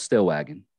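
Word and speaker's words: Stillwagon: what's your last name i always tell them it's still wagon you can spell it however you watch like a wagon sitting still you know but um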